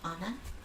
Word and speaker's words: Anna: stout oh nice and by the way it's pronounced anna anna okay perfect european european of course yep